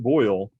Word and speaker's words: Boyle: a gas so uh boyle's law name after robert boyle b-o-y-l-e that's pronounced the same as like to boil water but boil water is